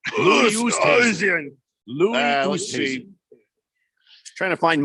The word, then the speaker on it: Oosthuizen: Oosthuizen. Oosthuizen sounds like a noise I make sometimes getting out of a chair. Oosthuizen.